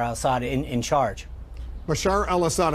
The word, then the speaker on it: Bashar al-Assad: Assad in in charge Bashar al-assad I know you've mispronounced his name a few times uh but uh it's Bashar al-assad I know the uh